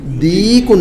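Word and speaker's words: ديك: دیک، دیکن، دکن نہیں بلکہ دیکن، یا کے ساتھ ہے. ما ہذا، ہذا دیکن، یا کے ساتھ میں ہے تو ہم لمبا کھینچیں گے اس کو تو کہیں گے ہذا دیکن.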